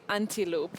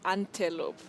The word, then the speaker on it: antelope: Now you know we say antilope and not antelope.